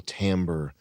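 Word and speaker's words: timbre: with a um a voice with an incredible tamber. Is that how you pronounce it, Chris? Yeah. an incredible tamber uh smoking and being deep and letting their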